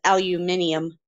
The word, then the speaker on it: aluminium: Ari said aluminium so Americans say it aluminium but the correct pronunciation is aluminium aluminium yeah in fact they